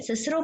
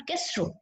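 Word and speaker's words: Cicero: More over chips की अपने personal opinion क्या थी कि स्टूडेंट्स को जब उन्होंने सारी जिंदगी सिसरो पढ़ना है, नॉट केस्ट्रो, ओके, सो उनको हम क्यों कहें कि वो केस्ट्रो पढ़ें दिस वर्ड सिस्ट्रो को, ठीक है ना।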